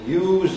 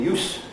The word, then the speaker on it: use: is the same, but use with a Z is the verb and use with an S is the noun.